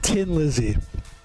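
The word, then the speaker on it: Thin Lizzy: 70s, and the name of the band is Tin Lizzy, and it's my favorite band.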